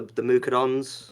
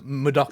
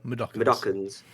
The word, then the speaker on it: Mudokons: The Mukadons? Mudokons. Is how you pronounce it? Mudokons.